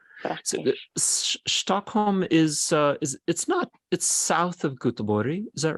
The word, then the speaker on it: Göteborg: Now look at you saying Gothenburg, but it's Göteborg in Swedish.